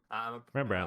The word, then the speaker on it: Rembrandt: Rembrandt, like the toothpaste.